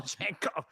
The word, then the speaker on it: Django: The D is silent. It is usually silent. I don't know what D you're talking about, but Django. oh, Janko.